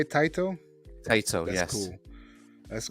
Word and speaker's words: Taito: That's how you say it, Taito?